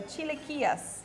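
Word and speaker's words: chilaquiles: it's a great breakfast next we have the Chile Kias did I say it right you said it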